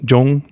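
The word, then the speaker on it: Zhongguo: is the Chinese word it's spelled in in our way of spelling z h o n g Jong z h o n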